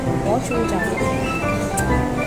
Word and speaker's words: gochujang: Gochujang. Ganun pala yung pagka-pronounce of gochujang.